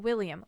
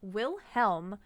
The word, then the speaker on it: Wilhelm: recognized world chess champion will helm not william wilhelm steinitz claimed his title in 1886.